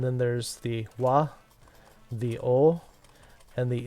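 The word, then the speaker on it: を: O, or... It is a wo. But it's pronounced o. Occasionally it will be said as wo.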